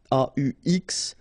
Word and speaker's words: aux: then a plus les will become o, aux, but then remember that phonetically it's o.